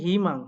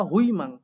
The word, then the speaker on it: 희망: হিমাং হওয়ার কথা হুইমাং, কিন্তু হচ্ছে হিমাং।